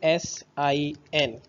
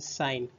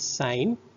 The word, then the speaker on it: sine: is written as only s i n and it is pronunciated as a sign not sin so it is sine cosine in short form